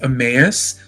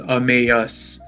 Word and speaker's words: Emmaus: um the name um so the name is pronounced amus like like when you say like amazing but it's amas yeah yeah um so the the name actually